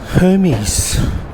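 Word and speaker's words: Hermès: window display from uh Hermes and that's how we pronounce it in Australia that's quite artistic colorful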